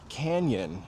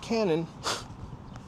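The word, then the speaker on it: Cañon: My favorite version of that is canyon in Beverly Hills. Now, when you put a tilda over the N, that makes the ny sound. So, it's not canon, canyon.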